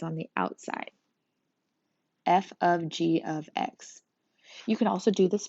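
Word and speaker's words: f∘g(x): Do not call this fog. Oh my gosh, that's so annoying. It is pronounced f of g of x.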